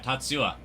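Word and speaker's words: Tatsuya: Tatsua.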